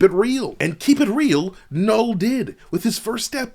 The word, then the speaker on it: Knull: pull out the nine with the silent k null did by making a